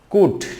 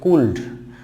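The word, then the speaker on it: could: সেই বর্ণগুলো না জানার কারণে অনেক সময় দেখা যায় স্টুডেন্টকে আমি ক্লাসে পড়ানোর সময় খেয়াল করি যে কুড সে বলতেছে কুল্ড, উড সে বলতেছে বা তোমরা বলতেছো উল্ড।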